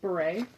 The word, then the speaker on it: beret: That's a slouchy hat pronounced beret.